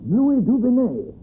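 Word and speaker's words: Louis Dugonnet: place of begin that's it my name is Lou duen I'm much do I owe you how you spell it l o u i s d u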